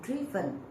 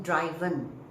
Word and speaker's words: driven: now I have heard people saying driven no it's driven okay the pronunciation is driven tomorrow I shall drive